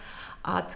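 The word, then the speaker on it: eau: Оно состоит из 3 букв, но произносится всего одним звуком – О. Буквы Ы, А, Ю, если вы их видите вместе, это никогда не Ы, это О de toilette, О de parfum.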